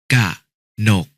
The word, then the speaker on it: กนก: องุ่น อ่าน ว่า อะงุ่น กนก อ่าน ว่า กะนก จมูก อ่าน ว่า จะ